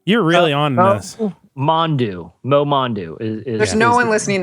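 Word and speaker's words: Momondo: Okay, so there's a travel company called, I think I'm pronouncing it right, Momondu.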